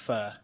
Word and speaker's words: pho: Yeah, it's pronounced pho.